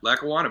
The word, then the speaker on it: Lackawanna: Lackawanna College am I saying it correctly yeah Lackawanna baby Scranton PA Kyle Scott his third year